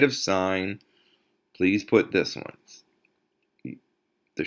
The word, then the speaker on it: sine: the way you write sign but you still say son you don't say sin you don't say anything else but sign okay this is cosign